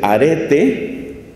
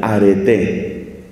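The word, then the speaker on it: ἀρετή: primero encontramos el término se dice aré así como suena como decir arete pero con el acento al final areté eso es virtud en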